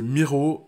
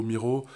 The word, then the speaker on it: Miro: un peu dans le type de cllaxoun c'est Miro ça s'écrit m i r O c'est un tableau